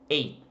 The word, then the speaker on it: ate: O passado de eat é ate. É a mesma pronúncia do número 8, tá? Ate, ate.